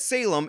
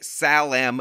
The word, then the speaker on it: Salem: don't understand is that Salem is actually named for the city of Jerusalem so no it is not in any way Salam University you better check